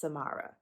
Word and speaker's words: Samara: i pronounce my name i pronounce it as samara like samara says okay mara f baby okay heavy on the ma mama so if you